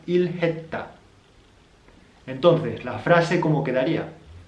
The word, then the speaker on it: 일했다: Y nos quedaría ilhayota, que contraído nos quedaría la forma final ilhetta.